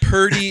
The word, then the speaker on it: purdy: Purdy ethereal storytelling. Yes. Purdy. Yep. Purdy. Sounds. Yeah. You got to pronounce it like that. Purdy. As in, you sure got a purdy mouth.